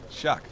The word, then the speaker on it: Sjaak: proud to have that I'm in favor of pronouncing that as Dutch as possible yes shock shock there we go shaki that would go uh that would be a little bit weird now let's just stick to shock as we are setting